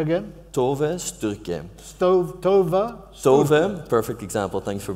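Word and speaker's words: Tove Styrke: But if you pronounce it phonetically, it might be Tove Sturk.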